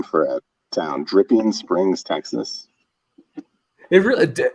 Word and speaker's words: Dripping: name for a town Dripping Springs Texas it really it's Dr did I say it wrong it's dripping not drinking but still dripping you